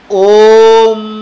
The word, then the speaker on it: ওম: প্রথমে ও কথাটি ছোট করে বলে মটি লম্বাভাবে টেনে দিবেন। কিভাবে দেখুন, ওম এভাবে আপনি যতটা লম্বা পারেন এভাবে টেনে নিয়ে যাবেন।